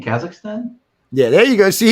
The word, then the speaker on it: Kazakhstan: Kakistan. Because I never pronounce that right.